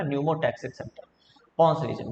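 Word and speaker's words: pneumotaxic: PC अभी लिख दे रहा हूँ, P साइलेंट होता है ना, न्यूमोटैक्सिक सेंटर पॉन्स रीजन में।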